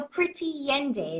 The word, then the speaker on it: Pretty Yende: But I know Pretty Yende. Is that how you Yes, pronounce her I name?